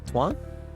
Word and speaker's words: Tuan: think about it Twan Twan how to pronounce the name one how do you say it Twan Twan pretty straightforward once you know Twan and now you